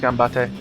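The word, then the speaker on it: 頑張って: Well, Ganbate? Yeah. Is that how you pronounce it? Yeah, it's Ganbate. Yeah.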